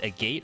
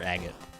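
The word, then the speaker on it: agate: ring a moss agot is it a gate or agot I'm going to guess both are equally valid pronunciations to be honest with you sir I would love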